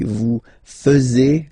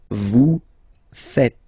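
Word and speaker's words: vous faites: make the mistake and tend to to say vu fuz okay uh but then no no no it's vu V fet vu fet. Okay, so remember a final s here is not pronounced and then this is not pronounced either.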